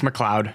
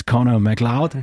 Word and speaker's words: McLeod: Uh it's Mloud. Okay. Yeah. Clouds in the sky. Now you know it. It's Connor Mloud. It's not Connor McLeot or or something else.